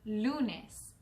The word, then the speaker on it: lunes: And in Spanish, the word for Monday is lunes. Repeat after me. Lunes. Very good. And lunes is spelled L-U-N-E-S.